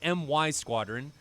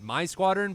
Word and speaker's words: MY Squadron: be 343rd taking on MY Squadron. I, in the past, have pronounced it as My Squadron, but I was corrected, and it is MY Squadron for a Malaysian squadron against 343rd, who I